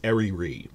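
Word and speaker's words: Eryri: is called I looked up in the Welsh pronunciation it's ariri which is just their word for Eerie which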